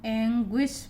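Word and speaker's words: anguish: Last में भी हैं, तो ऐसे समय पे जी यू आई का उच्चारण गुई, तो इसको हम एंग्विश पढ़ते हैं।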